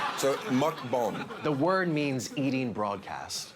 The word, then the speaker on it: mukbang: It's actually mukbang. It comes from Korea. That sounds racist. No. Mukbang. You say it like it's kind of racist. I'm saying it how they pronounce it. Mukbang.